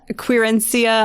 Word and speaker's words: querencia: Spanish word okay yeah corencia quirencia I think is the correct pronunciation so everyone who has